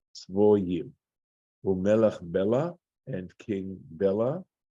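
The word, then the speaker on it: צבויים: This is a Tiv-Kri situation where it looks like Tzviyim, right, the way it's spelled, but we're being told here in this Masoretic note that that's to be pronounced as Tzvoyim.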